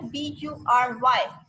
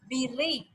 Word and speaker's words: bury: But it's not bury or it's not buray. So what's the correct pronunciation of that word is biri. That's biri. Clear?